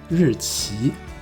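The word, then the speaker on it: 日期: 还有这个日期在台湾念作日期，期念第 2 声，在台湾。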